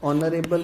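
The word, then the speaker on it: honourable: अगर sound vowel है, जैसे ऑनेस्ट में फर्स्ट लेटर एच जो है वो साइलेंट होता है, ऑनरेबल में फर्स्ट लेटर एच जो होता है वो साइलेंट होता है, इनको हम प्रोनाउंस नहीं करते हैं।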